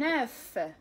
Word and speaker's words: œuf: Un œuf. Un œuf. Baydatun. Un œuf. Neuf. فهنا تقريبا نفس النطق حيت هنا كنديرو لا ليازون.